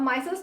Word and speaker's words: micelles: ठीक है, माइसल्स का प्रोनाउंसिएशन अलग अलग होता है, मैं माइसल्स बोल रही हूँ।